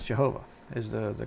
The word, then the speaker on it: Jehovah: look at it and I see three syllables there jeova uh there's three within the godhead you know but Yahweh is only two which is why I